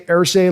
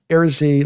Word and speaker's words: Irsay: Thrill House, Brando, you say Irsay like Jim Irsay, but it's Irsay like nursery.